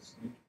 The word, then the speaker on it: Snyk: SNYK, pronounced SNCC.